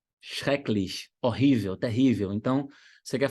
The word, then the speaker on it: schrecklich: Olha uma outra palavra que começa com SCH. Schrecklich. Schrecklich.